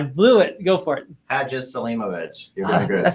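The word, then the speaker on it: Hadžiselimović: I'm going to have the courage to pronounce Harris's name. Hadziselimovic. No, I blew it. Go for it. Hadziselimovic.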